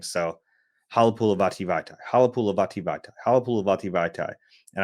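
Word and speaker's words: Halapoulivaati Vaitai: So Halapulavati Vaitai, Halapulavati Vaitai, Halapulavati Vaitai. And I nailed the pronunciation, and Michael goes, spell it.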